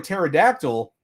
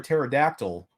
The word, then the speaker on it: pterodactyl: can't you hear a pterodactyl go to the bathroom bathroom I can't even talk need to get some drink in here well the reason is is because the p is silent duh of course all